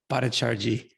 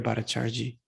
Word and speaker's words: Bhattacharjee: Bhattacharjee. I always want to put in like an extra syllable in there, but Debo Priya Bhattacharjee.